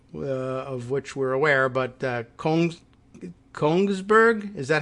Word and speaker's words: Kongsberg: which we're aware, but Kongsberg, is that how you would pronounce this? I was looking for an extra I in there, like that it would be Königsberg, but it's Kongsberg instead.